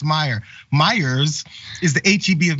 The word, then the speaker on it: Meijer: Meyer's also, the name is, there's a huge chain of grocery stores and supermarkets in Michigan, and everyone knows it's called Meyer, and it's spelled that way.